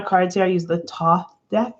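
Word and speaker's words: Thoth: here i use the top deck it's pronounced top it's t-h-o-t-h i think i like it because it has a silent h just like me uh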